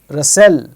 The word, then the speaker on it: rustle: Whistle, rustle, fasten, bristle, catch.